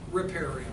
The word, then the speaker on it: riparian: are called riparian lands riparian riparian pronounce both switch Prairie and lands have riparian